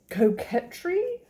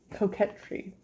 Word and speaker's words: coquetry: Coquetry? These words always take me out, but I'm gonna get back in. Hold on. Coquetry. It's spelled like bouquet.